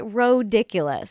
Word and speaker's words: Rodiculous: Yeah, and then the podcast is Rodiculous. It's spelled ridiculous, but with an O, R-O-diculous.